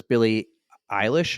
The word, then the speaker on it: Billie Eilish: So Beyonce versus Billie Eilish.